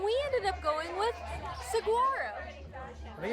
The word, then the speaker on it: Saguaro: right it's like this I think the G is more of like a w sound oh so Saro I